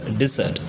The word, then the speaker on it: dessert: The spelling is, however, it's DESSERT, but however it's pronounced as dessert.